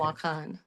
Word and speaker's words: Wakan: Wakan. Yeah. Because the emphasis is on the second part.